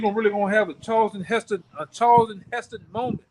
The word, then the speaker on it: Charlton Heston: You gonna really gonna have a Charlton Heston moment. How do you say his name? Charles Heston.